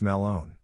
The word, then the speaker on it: Melon: with us named him Walter melon pronounced Malone We snuck the watermelon